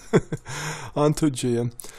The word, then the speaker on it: Ontogia: Originating in the ancient lands of Ontogia, I think is the pronunciation I had in mind for this, Ontogia, the giants marched south